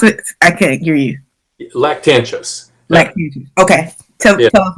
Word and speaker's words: Lactantius: Can you pronounce it? I can't hear you. Lactantius.